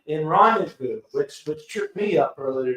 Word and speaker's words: rendezvous: There's a Z in the middle of the word, and you don't pronounce the Z. It's Rendezvous.